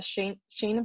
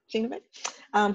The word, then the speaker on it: Schoenebeck: Welcome to Data for Good speaking series featuring Schoenebeck. Am I pronouncing that right? Yep. Schoenebeck, who's speaking with us today about building just technologies in an unjust world.